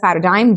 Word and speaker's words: paradigm: It is pronounced as paradigm. G is silent over here.